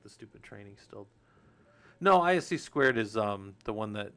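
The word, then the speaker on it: (ISC)²: No, they're not They're not a um And it's written ISC and then the number two. That's the way you'll see it. Um but it's it's ISC squared is how you say it.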